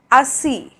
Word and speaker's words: assis: So I is pronounced like E, that is like coffee, okay, coffee. For example, Petit, Petit, that means small. Livre, livre, which means book. Assis, assis, which means seated, okay, to be sitting, seated, assis. And île, île, which means island, île, okay, that's the pronunciation of I.